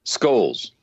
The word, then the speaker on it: Scholes: ask ahead of time correct me please skulls or shoals skulls skulls scores well this